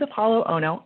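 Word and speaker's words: Apolo Ohno: but if you guys didn't know this is apollo ono i'm saying it right right am i saying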